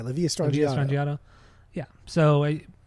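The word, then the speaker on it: La Villa Strangiato: Is that how you say it? Yeah, La Via Strangiato.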